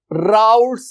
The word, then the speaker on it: Raoult: कर रहे होते हैं स्पेलिंग देख लो आर ए ओ यू एल टी कॉ एस राउट्स ल राउट्स ल तो साइंटिस्ट का नाम क्या है एफ एम राउट्स और उसने यह जो